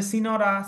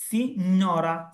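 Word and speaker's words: signora: সি, এই যে সিনোরা, অনেকে বলে সিনোরা, সিনোরা না, এটা হবে সিনোরা, সিনোরা, একটু গুণা দিয়ে বলতে হবে সিনোরা, সিনোরা, সিনোরা, ঠিক আছে।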